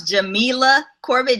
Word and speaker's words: Jamila Corbett: Jamil Corbett go ahead my name is Jam Corbett pronounce Jamila Corbett just for the record